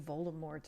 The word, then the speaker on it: Voldemort: The T at the end of Voldemort is supposed to be silent as it's based on a French word.